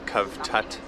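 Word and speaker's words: Cavtat: decided to head to a town called swat i think i pronounced it correctly as south africans we would call it kavtat but that's where we're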